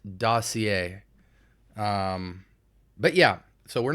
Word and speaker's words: Dossier: r some people say doer some people say dosier I think it's dossier um but yeah so